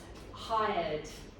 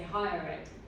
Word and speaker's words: hired: Hired. Higher. Because you were going to say hire it.